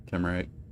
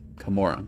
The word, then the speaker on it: Kamora: I can read camera. It's Kamora. That's how you say it.